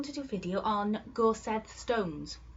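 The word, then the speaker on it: Gorsedd: do a video on gorset Stones Gore said um it's a Welsh word and it's spelled g o r s e double d double D in the world child alphabet is just one letter and it's oath the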